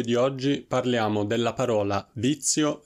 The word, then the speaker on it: vizio: della pronuncia della parola vizio Ricordate che la Z che trovate in questa parola è molto più simile alla Z al suono Z che conoscete già in pizza per esempio e non è la